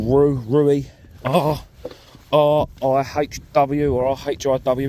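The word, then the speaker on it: Rhiw: I'm at a place called Rui, R-I-H-W or R-H-I-W it's spelt.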